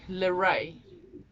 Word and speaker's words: Leré: level actually calls me Leré, which is spelled Lere with a little stripe on the last E. Pronounced similar to Renee, so it's Leré. In English, Leré. The R is a very Afrikaans sound.